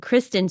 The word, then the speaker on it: Kristen: Turner and Kristen Stewart I probably missed pronounced her name earlier as Kiren Kristen Stewart with Riley Kio